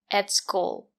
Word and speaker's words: at school: We say at school at is not stressed. We pronounce it as e. The sound is more closed. And the letter t is a stop t. Put your tongue up and stop the air.